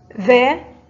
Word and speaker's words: ذ: آخر الكلمة مثل أخذا، ولا بد من خروج اللسان عند النطق بالذال ذا.